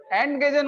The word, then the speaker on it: entgegen: बार बार aunty क्यों बोलते हो? एंड गेजन है ये।